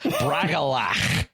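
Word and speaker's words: Bragollach: to say it like braal yeah you have to have that something back in your throat you've been chewing on cud or something so like yeah exactly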